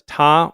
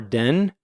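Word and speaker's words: 田: And it's pronounced in Japanese as ta or den.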